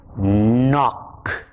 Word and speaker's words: knock: with k n yo k is silent the sound is not the sound is so the words that we did in this little story are no knock knob knit knot knife